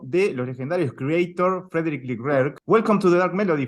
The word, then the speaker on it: Leclercq: los legendarios KREATOR Frédéric Leclercq. Welcome to The Dark Melody, Fred. How are you doing today? Hello, I'm good. It's pronounced Leclerc, but it's fine.